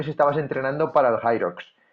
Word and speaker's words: Hyrox: Y ahí, poco después de esto, empezaste con el Irox. ¿Se dice Irox? ¿Lo pronuncio bien? ¿O cómo se tiene que pronunciar? Hyrox. Hyrox, Hyrox.